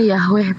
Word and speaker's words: Yahweh: Kalau secara sesuai catatan Musa hanya ditulis YHWH atau tetragrammaton. Oke. Bacanya Yahweh Pak.